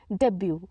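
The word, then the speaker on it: debut: हमारा next word है डेब्यू डेब्यू यहां पे टी जो है साइलेंट होता है डी ई बी यू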